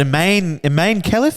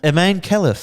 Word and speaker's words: Imane Khelif: But Imane Khelif, is it the boxer?